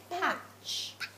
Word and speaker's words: Patch: Their dog is actually called Patch. Scoreboard. It's like look, it's scoreboard. It rhymes with catch.